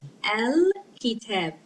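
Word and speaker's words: الكتاب: Okay, so when we and alif lam, we pronounce it because kaf is a moon letter. It makes lam pronounced. We pronounce the lam. Al kitab.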